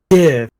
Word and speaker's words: GIF: It's pronounced Jiv. It's pronounced Jiv. Like the peanut butter.